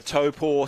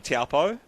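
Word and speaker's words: Taupō: the other day for helping me to figure out my pronunciation of Topo it's taken me a while after a lifetime of saying taupo it's it's one of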